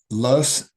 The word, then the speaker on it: loess: One is loess. People pronounce this in different ways, but that's how I learned it.